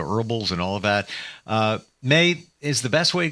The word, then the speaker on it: Mai: It May as the month of May, but it's spelled MAI.